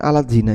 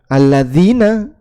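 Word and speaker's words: الذين: Sehingga ada kalimat alladzina dibuat transliterasi alat zina ini nggih bacanya alat zina ini dz tapi dibaca terpisah alat zina padahal aslinya alladzina alladzina amanu alat zina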